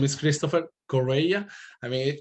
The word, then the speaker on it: Correia: christopher correa i mean i know it is not easy to to read it to pronounce it actually that last name is kind of portuguese because my grandparents from the side of my dad are from portugal migrants in in venezuela so it's christopher correa uh i'm a home